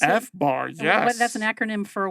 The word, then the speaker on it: FBAR: Is that how I pronounce it? FBAR, yes.